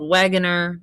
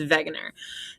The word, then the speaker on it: Wegener: this guy alfred wegener i know it looks like it's spelled wagoner but it's wegener alfred wegener was a